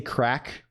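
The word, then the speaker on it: craic: about VST what is it's like crack spelled like c r a i c or something right I'm probably being horribly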